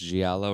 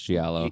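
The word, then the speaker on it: giallo: Galo film Gio film I think you don't pronounce the L's but I'm not sure looks like G no it's Galo or something like that I've heard people say it but I forget if it's gialo or Galo I think it's gialo G I haven't seen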